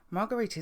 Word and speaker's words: Marguerite: male's voice saying marguerite margarita is the french way of pronouncing margaret and as the pomeroy